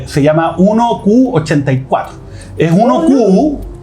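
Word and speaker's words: 1Q84: eh Y se llama 1q 84 es 1q porque Q en japonés ya se pronuncia igual que nueve ya entonces 1984 pero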